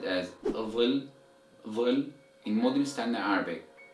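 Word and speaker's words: ظل: But in Egyptian Arabic dialect, this word is pronounced as dil, dil with the Dal or D sound.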